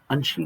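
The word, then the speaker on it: Angsi: ಯಾವ ರೀತಿ ನೀವಿಲ್ಲಿ ನೋಡಿ ಅನ್ಶ್ರೀ ಗ್ಲೇಷಿಯರ್ ಅಂತ ಹೇಳಿ ಉಚ್ಚಾರಣೆ ಮಾಡಬೇಕು ಇದನ್ನ ಅದಕ್ಕೆ ಹಲವಾರು ಹೆಸರುಗಳನ್ನು ಕೊಟ್ಟಿದ್ದೀನಿ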